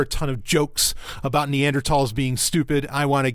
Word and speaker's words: Neanderthal: __ ] a neandertal now it's pronounced neander tall not Neanderthal okay if you say neanderthal you're probably a neander tall well okay so I'm